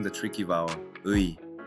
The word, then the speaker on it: 의: Mistake number 3, mispronouncing the tricky vowel, 의. Most learners say ui clearly and slowly. But in real Korean, it usually sounds like 에 or even just 이.